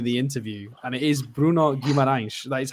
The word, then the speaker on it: Bruno Guimarães: And he pronounces his own name in the interview, and it is Bruno Guimarães.